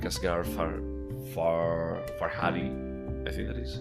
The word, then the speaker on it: Asghar Farhadi: It's from this year, but it's another like Asghar Farhadi, I think that is how it's pronounced, movie.